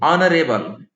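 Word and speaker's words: honourable: देखें तो आप देखिए आवर का उच्चारण क्या हो रहा है, ऑवर, ऑनेस्ट, ऑनरेबल, ये सारे हिंदी में वॉवेल्स हैं और वॉवेल यानी स्वर ध्वनि से इनका उच्चारण हो रहा है और एच का उच्चारण यहां साइलेंट है, हियर एच इज साइलेंट।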